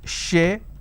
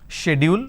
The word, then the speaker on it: schedule: There are two pronunciations which people usually say. One is schedule. Schedule. We can pronounce this as schedule. Let me change the color so that you can understand. You can either pronounce this as schedule, or some people pronounce this as schedule. So either you say schedule or you say schedule.